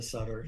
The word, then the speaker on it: Sutter: The Sutter is like the hockey players, yes. And usually that's how they pronounce it. But I'm the Sutter. You are the Sutter, like Sutter's Mill.